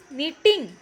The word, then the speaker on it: knitting: नीटिंग की spelling वैसे तो कहाँ से स्टार्ट हो रही है? के से, लेकिन हम इसको क्या प्रोनाउंस कर रहे हैं? नीटिंग। के इसमें क्या है? इसका मतलब साइलेंट है।